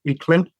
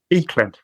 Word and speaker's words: Aichlinn: The way I pronounce it is Aichlinn, and that's based off my dad's pronunciation.